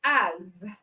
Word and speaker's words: as: And then for the Z sound, we have words like as. All right, the S, letter S in this word is produced as Z.